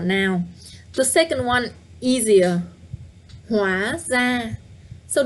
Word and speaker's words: Hóa ra: Hóa ra. So don't forget that the R in Vietnamese, in Northern Vietnamese, is pronounced the same as a D.